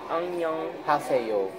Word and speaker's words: 안녕하세요: 안녕. 하세요. 하세요. 안녕 하세요. Yep. Oh, okay. You're really good. The only thing I know from like any Asian countries is konnichiwa. Say it. 안녕하세요.